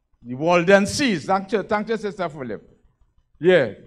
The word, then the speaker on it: Waldenses: I never pronounced that name right. The Waldenses.